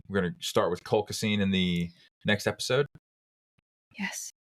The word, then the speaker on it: colchicine: It's colchicine.